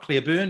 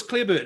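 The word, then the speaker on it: Clareburt: name wrong haven't i it's not clear burn it's clear clear louis clebert has been impressive in the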